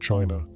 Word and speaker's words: qi: In ancient China, health was never just about flesh and bone. It was about energy. The invisible, vital force called qi, pronounced chi, flowed through every living